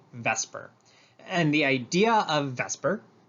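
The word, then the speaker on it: VSEPR: repulsion um it's pronounced vesper i know that swaps the e and the s but we call it vesper and the idea of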